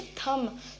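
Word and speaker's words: thumb: इसे थंब बोलते हैं, बी प्रोनाउंस करते हैं, लेकिन नो, बी हमारा साइलेंट होता है, हम इसे बोलेंगे थंब.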